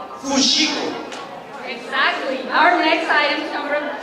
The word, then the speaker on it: fuxico: Fuxico. Fuxico.